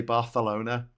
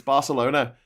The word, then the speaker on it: Barcelona: but count to that I really hate it when people say Barcelona drives you up the wall it's Barcelona because they speak a different language there it's it's not actually Spanish it's catalon just